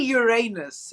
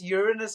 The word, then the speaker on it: Uranus: time and Spacey needs it's actually Uranus is the correct way to pronounce it I don't know where this Uranus comes from I've been saying